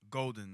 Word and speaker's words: Goldn: started making music My Name literally was just golden like g o l d n spelled like my government name but whenever I told